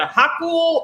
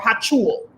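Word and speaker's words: Hochul: right it's spelled h-o-c-h-u-l so it's either haku or hachul in new york and then her her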